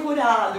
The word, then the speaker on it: Jurado: Ai, o Jurado, que lindo. Ai, depois eu falei com sotaque. A pronúncia certa, né?